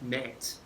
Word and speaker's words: meat: The word meat as in M-E-A-T would have been pronounced more like mate.